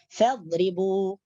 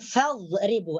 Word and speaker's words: فاضربوا: فاضربوا, bukan fadribu atau fadribu atau fadribu. Sebab ada huruf 4 yang agak hampir sama pengucapannya menurut kita. Seperti huruf dha, huruf dha, huruf dha, huruf dzal, huruf dal. Padahal itu berbeda semua.